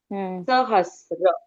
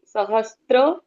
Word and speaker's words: सहस्र: नामस सहस्र बोलिए सहस्त्र नहीं नहीं सहस्र रस और वो है आगे